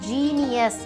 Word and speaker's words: genius: ஏன்னா ஜே அப்படின்னு தான் நான் சொல்லியிருந்தேன் இல்லையா, ஜிஇ வரும்போது இந்த இடத்துல நம்ம இதை ஜீனியஸ் அப்படின்னு ப்ரொனவுன்ஸ் பண்ணுறோம்.